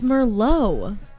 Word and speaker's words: Merlot: It's Merlot. You keep saying Merlot. It's spelled like Merlot. I know, but it's Merlot. We love it.